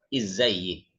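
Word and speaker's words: إزيك: Ini berubah menjadi izzayyik. Ya-nya dikasih. Izzayyik. Sini kasroh.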